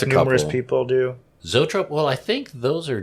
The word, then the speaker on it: zoetrope: I'd like to do, how's it pronounced? Zeotrope? Oh, Zoetrope?